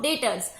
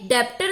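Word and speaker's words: debtors: हाँ, ये जो एक और बात है, ये डेप्टर नहीं बोलेंगे, वी विल से डेटर्स। इसमें क्या होता है, बी हमारा साइलेंट होता है, बी इज साइलेंट।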